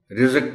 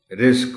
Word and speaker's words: رزق: الفاظ میں شامل ہے، رزق بول دیتے ہیں لوگ، رزق بولنا ہے۔ وقت، وقت بول جاتے